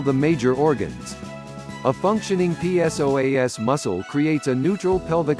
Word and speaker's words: psoas: It's often called the mighty psoas, pronounced so as for the many important functions it plays in the movement of your body.